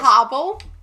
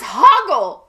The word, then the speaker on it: Hoggle: No, his name is not Hogwarts. It's Hoggle.